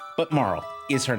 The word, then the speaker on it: Marle: So, yeah, her name is Marl. When I was a kid, I pronounced it Marley. Um, Marl.